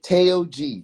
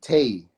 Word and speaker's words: Taog: Okay, Taog, Tay. So it's like the TA is almost like a TAY, like Tay.